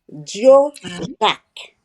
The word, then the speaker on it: Joe Jack: Alors en Haïti, on le prononce Dio. Dio Jacques, mais son vrai nom est Joseph Jacques.